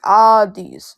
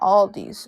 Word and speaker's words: Aldi: It's actually pronounced Audis, not Aldi's.